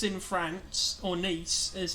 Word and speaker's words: Nice: to sleep so we can now go to nice in France or nice as it's pronounced I likes a nice faster ass and